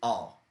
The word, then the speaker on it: I'll: Como que a gente pronuncia? Como se fosse all. All.